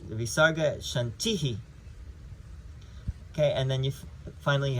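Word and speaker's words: शान्तिः: The Visarga is like why we say Shanti, Shanti, Shantihi. It's because you have that dot under the H of the Shanti. And so when you have that dot under the H, it doubles the sound of the vowel.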